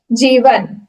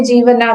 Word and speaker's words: जीवन: की स्पेलिंग क्या होगी, तो सबने जीवना कर दिया उसको इंग्लिश में, पर अगर हमको लगा कि ये तो गलत हो गया, जीवना, JIVANA, हम तो उसको जीवना ही बोलेंगे, पर वो तो जीवन है, न फुल है,